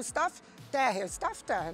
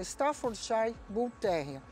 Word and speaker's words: Staffordshire Bull Terrier: Eu sempre falava Staff Terrier. Não. Ele se chama Staffordshire Bull Terrier. Os ingleses não gostam dessa pronúncia. Eles gostam que a gente fala Staffordshire.